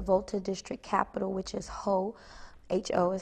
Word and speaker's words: Ho: more aware of their body internally, our organ systems, our skeletal system, how it functions, how the skeletal and nerve system interact, how damaged spine can then lead to damage in your extremities.